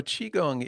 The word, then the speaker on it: Qigong: Yeah, Qigong. Okay, yeah. I'm So sorry. I knew I even looked it up and I still screwed it up. it's all good. So Qigong is a practice.